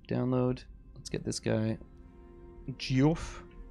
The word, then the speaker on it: Geoff: Geoff. Which is pronounced Jeff, I think.